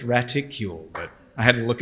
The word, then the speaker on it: graticule: Apparently, it's raticle, but I had to look it up.